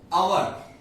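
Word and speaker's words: hour: अवर, अब अवर को जब हम प्रोनाउंस करते हैं तो अ व र, अ व र, तो पहले क्या आया? अ। अगेन ये वॉवेल साउंड है, स्वर में आता है, सो वी से एन अवर।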